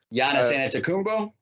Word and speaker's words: Giannis Antetokounmpo: Giannis Antetokounmpo?